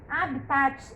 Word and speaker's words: habitat: Habitat é essa palavrinha aqui, ó, com H, ó. Habitat. O T é mudo, não tem vogal com ele.